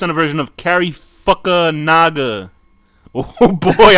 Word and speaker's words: Fukunaga: Cary Fukunaga oh boy I'm God not pronounce that wrong I realized I realized very fast after I cuz I was gonna say and you know Naga but then I realized if I pronounced that incorrectly I'll be in big trouble that's Cary Fukunaga he use the he